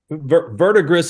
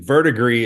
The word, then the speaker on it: Verdigris: Verdigris is the French pronunciation, and I think the correct pronunciation, verdigris, is what Grandpa says. So either is acceptable.